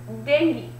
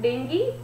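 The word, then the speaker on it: dengue: तो options are bird flu, chicken pox, cholera and डेंगी. इट is pronounced as डेंगी. ठीक है, किस चीज से हम इसको प्रोनाउंस करते हैं? कैसे प्रोनाउंस करते हैं? इट इज डेंगी, नॉट डेंगू.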